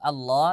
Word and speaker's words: Allah: Ustaz Naam untuk huruf Allah lafaz jalalah itu ketika kita membacanya harus tebal karena apa Karena di sana ee khusus e lafaz jalala kita harus tebal contoh membaca huruf Allah